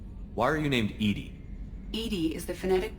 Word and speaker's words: EDI: is a jar why are you named edie edie is the phonetic pronunciation of e d that is an acronym